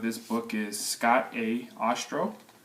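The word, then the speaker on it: Ostrow: book is Scott a Austral last name is spelled OS t ro w and he's a former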